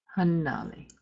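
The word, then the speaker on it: hannali: sounds when they appear the constant sound must be held longer than if there was only a single consonant with written within the word and this is very important in your pronunciation very importantly pronunciation we have a word that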